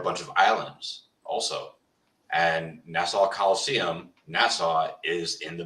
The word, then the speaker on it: Nassau: Nassau, like you saw. Nassau.